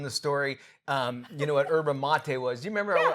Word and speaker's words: yerba mate: This company sent me cases and cases, and I was like, oh my gosh, this yerba mate is so great. And they finally ran there and go, it's pronounced yerba mate.